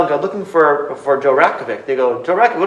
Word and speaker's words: Ratkovic: Ratkovic. Dr. Rat? Ratkovic, so silent T. Rat, say that again? Ratkovic. Rat, R-A-T? Ratkovic, but it's silent T though. R-O-K-O-V-I-C. Ratkovic. On the flyer right there. K-O-V-I-C. Yep. Rakovic?